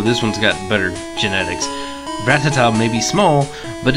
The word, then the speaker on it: Rattata: Rattata, use tackle! Rattata, that's it. I've pronounced that wrong for years. I've called it Rattata. But it's like Rattata.